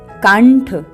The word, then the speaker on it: कंठ: से समझते हैं कंठ तो हम अनुस्वार के बाद वाला व्यंजन देखेंगे अनुस्वार के बाद व्यंजन आया है ठ तो ठ ट वर्ग का व्यज है इसलिए इसमें हलंत ण पंचमाक्षर प्रयोग होगा आइए इसका वर्ण विच्छेद समझते हैं हलंत क जमा अ स्वर जमा पंचमाक्षर हलंत ण जमा हलंत ठ जमा आ स्वर तो यह बना कंठ तो बच्चों आपने देखा